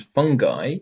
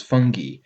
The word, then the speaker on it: fungi: letter of cacti and fungi is pronounced i while the final letter of confetti is e some people do pronounce fungi as fungi but you would never expect to hear confetai the reason for these